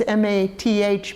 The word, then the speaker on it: Math: Means it's M-A-T-H, but it's pronounced M-A-T, Math, which means monastery.